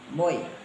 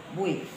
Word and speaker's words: Boe: Cindy Cahya Mahrani Boy. Ini baca yang boy atau bu? Bui. Bui. Ejaan lama tuh Bui. Iya. Kamu orang lama kan? Itu kalau BOE dibaca bu, itu ejaan Belanda, ejaan lama.